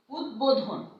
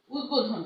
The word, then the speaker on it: উদ্বোধন: যেমন দেখো উদ্বোধন, হ্যাঁ, যেমন উদ্বোধন, উদ্বোধন, এই বটা কিন্তু উচ্চারণ হচ্ছে, অবিকৃতভাবে, কোনো রকম বিকৃত নয়, মানে হুবহু সেই বটা উচ্চারিত হচ্ছে সন্ধি বা সমাসবদ্ধ পদের।